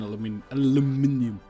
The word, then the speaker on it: aluminium: Yeah, I need steel and then aluminium. Also, when you're on the research... the Americans say aluminum.